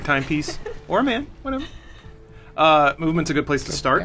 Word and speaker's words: MVMT: So just so you're aware, the brand is MVMT, even though it's pronounced movement.